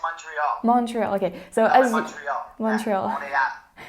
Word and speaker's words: Montreal: question how do you say morial in english montreal in english yeah it's montreal montreal okay so montreal montreal so since you've